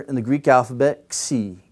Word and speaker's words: xi: It was a kappa and a sigma put together, and they pronounced it x, x, right?